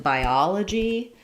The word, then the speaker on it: biology: Because we're stressing on the ah syllable and we're moving from a front I diphthong, by, ah, la, g.